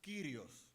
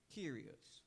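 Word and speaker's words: κύριος: It's written as Y se pronuncia curious. Kyrios. Curious.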